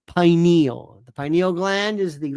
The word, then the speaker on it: pineal: However, it's pronounced pineal.